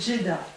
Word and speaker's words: Djeddah: On va couper, prononce bien, c'est Djeddah.